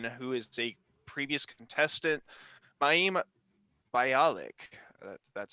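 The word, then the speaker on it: Mayim: got buzzy cohen who is a previous contestant miami that's how you pronounce it and then sanjay gupta um and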